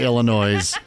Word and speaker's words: Illinois: Department it is the Illinois it drives him crazy which I love you don't pronounce the S well but there's an